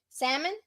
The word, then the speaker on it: salmon: like Ronnie said no we don't pronounce the L salmon I don't know how